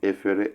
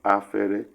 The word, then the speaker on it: efere: Some will prefer to pronounce efere as afere, replacing e with a in the bracket, which means take away the place.